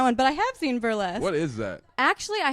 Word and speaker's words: Burlesque: You watch that Burst Glatt movie? Burlesque.